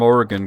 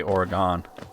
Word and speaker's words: Oregon: I know people from Oregon get really pissed off you say Oregon. You say Oregon? Oh my god, dude. It's like you kick their grandma right in front of them.